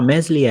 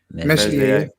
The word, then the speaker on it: Meslier: Even the keeper Meslier, he looked a bit shaky, stuck with him.